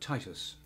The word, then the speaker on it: Titus: So it's not Titus Andronicus, but Titus.